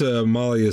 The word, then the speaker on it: Amalia: smart I am what's a Malia say when I I counter offer oh my bad that was a slip up we keep getting her name wrong it's Amalia not Molly sorry about that yeah